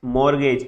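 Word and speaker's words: mortgage: भी बताया था, मैक्स, मॉर्गेज, इसका टी साइलेंट होता है, मॉर्गेज, एम आर गे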